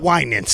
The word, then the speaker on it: Winans: The Winans. Thank you for helping with my pronunciation.